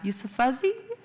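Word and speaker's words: Yousafzai: awesome woman uh yusef how do you say her last name do y'all know you you so fuzzy you s yeah you so fuzzy yup correct me i know it's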